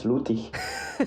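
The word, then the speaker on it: Lüttich: Yeah, the Flemish version is Luik, and the German version is Lutig, because Liège is close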